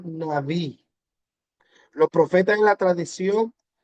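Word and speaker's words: נביא: En hebreo la palabra profeta es pronunciaba naví.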